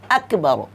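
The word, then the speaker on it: أكبر: আকবার আকবার বলতে হবে এখানে আপনারা গাফ লাগিয়ে দিতে পারবেন না গাফ শুধুমাত্র উর্দুতে চলে আসে গাফ হ্যাঁ কিন্তু আরবিতে কিন্তু গাফ দেওয়া নেই তো এটা কি করতে হবে আকবার আকবার কাফ উচ্চারণ করে পড়তে হবে তো আপনাদেরকে আমি সুন্দর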